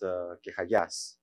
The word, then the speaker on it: Kechagias: The last name is actually pronounced Kechagias, but the Germans were in charge of the European transliteration standards, so this is what you get.